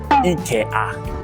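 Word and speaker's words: イケア: Speaking of the Ikea in Japanese, it's Ikea. That's how we pronounce in Japanese.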